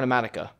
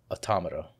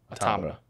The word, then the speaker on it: Automata: I played Nier Automata, and that game, let me tell you. Is it Automata or Automatica? Automata. Automata. Automata. Okay.